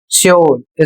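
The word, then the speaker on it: sure: अगला शब्द है एस यू आर ई श्योर।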